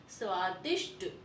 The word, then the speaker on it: स्वादिष्ट: यहाँ पर देखिए श है और श भी कौन सा है, षटकोण वाला आधा श है, तो इसका उच्चारण कैसे होगा, स्वादिष्ट।